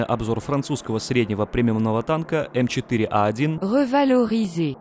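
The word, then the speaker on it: M4A1 Revalorisé: французского среднего премиумного танка m41 говорил изей да именно так произносится его название ну или же как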